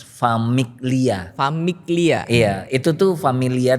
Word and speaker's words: Famiglia: Familia sih bacanya. Nah, jadi sebenarnya Elders Famiglia.